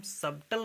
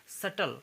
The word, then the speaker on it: subtle: SUBTLE, ठीक है, तो इसको बी साइलेंट रहेगा, तो इसको हम सबटल नहीं कहेंगे, सबटल ऐसे नहीं पढ़ेंगे इसको, इससे हम पढ़ेंगे सटल, सटल, ठीक है, सटल,